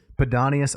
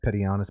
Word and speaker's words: Pedanius: Pedanius, I think I mispronounced him earlier as Pedianus, but Pedanius Secundus murdered by one of his own slaves.